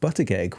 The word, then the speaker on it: Buttigieg: hypnotist and today we are joined by Helen Butterg. Welcome to the show. Thank you. Nice pronunciation there.